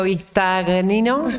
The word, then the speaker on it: Bistagnino: ¿Cuántas veces te preguntaron cómo se pronuncia tu apellido? Cuando alguien lo tiene que anotar le digo Vistagnino, y si no es Vistagnino.